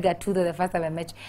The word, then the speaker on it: Gathuto: I like how you emphasize the people, because I personally know for a fact, yes, I said Gathuto the first time I met you.